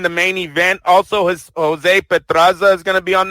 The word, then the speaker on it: Pedraza: You got to roll your R.